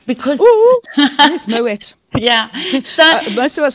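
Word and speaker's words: Moët: But no, a lot of people think that they must pronounce it the French way and go Moe. Moe. But meanwhile, the guys, the family. Yeah, are originally from Holland, from the Netherlands.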